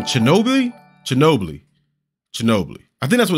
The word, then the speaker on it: Chernobyl: Chernobyl is how it's pronounced.